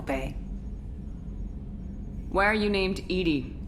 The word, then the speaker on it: EDI: behind the medical bay why are you named edie edie is the phonetic pronunciation of e that is an acronym for